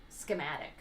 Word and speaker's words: schematic: I get it, because scheme is a word, but like schematic. Correct. It is the blueprint for a scheme. No, but you really emphasize the ski, like skee ball.